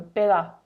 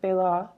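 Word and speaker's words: Baillot: It's spelled like bail lot, but it's French, so you cut off the end, so Bailot, I assume.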